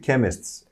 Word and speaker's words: chemist: Burada telaffuz da önemli. Chemists. K. Aman öteki söylemeyelim öteki yanlışını da. Yanlışını söylemeyelim. Yani CH yan yana geldiği zaman Ç sesi çıkar ya. Hani ama burada. Burada çıkmıyor. Chemist burada çıkmıyor.